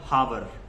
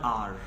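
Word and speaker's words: hour: have only one हावर कुछ को लोग कहते हैं वन हावर और one like something like that so this is called one आर I have one आर so this एओ य आर इज not called हावर और something like that we call it वन आर I have one आर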